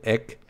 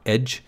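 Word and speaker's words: ecg: the e c g the ick or edge as it's often pronounced that's what's called a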